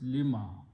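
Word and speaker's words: لما: Li, it's a made of two words, lima.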